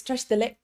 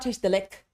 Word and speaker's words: Tashi delek: Because in Tibetan, when the consonant ends, it is done. When the syllable ends, it is finished. So what ends up happening is these sounds almost get swallowed. So a g sound at the end, like in delek, delek, what happens is my tongue, the back of my tongue is touching the roof of my mouth like I would for a g or k sound,